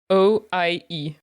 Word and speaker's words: oie: Sorry, I was going to say the letters in French. O-I-E. You pronounce it oie.